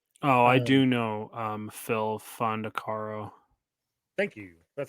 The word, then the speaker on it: Phil Fondacaro: so I mean oh I do know um Phil fondacaro thank you that's how you say his name